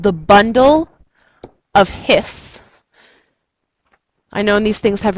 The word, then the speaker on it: His: really awesome fantastic names purkinji is how you pronounce the fiber bundle of his is how you pronounce uh the beginning of that nerve fiber so if i were